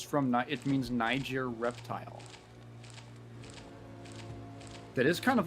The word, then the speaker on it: Niger: It's like It's Niger. Yeah. Yeah, it's like a. it is not the N-word. What is that? Is that a soft G? I think G is a hard G.